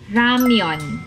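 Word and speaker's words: 라면: Actually, ang pronunciation ng ramen sa Korean ay ramyeon.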